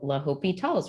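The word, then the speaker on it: L'Hôpital: La hopital's rule and it's spelled like Hospital often or using another language or another spelling la hopital La hopital's rule the original spelling of La hopetol's name included the S but French spellings remove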